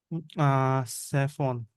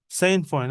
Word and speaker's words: sainfoin: Actually, I'm not pronouncing it properly. Because no, it was unknown to me yet. Okay, so sainfoin. Okay, sainfoin. That will be the correct pronunciation.